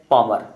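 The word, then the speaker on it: Palmer: Answer Thomas हैग पॉमर। जी हाँ, यहाँ L silent है।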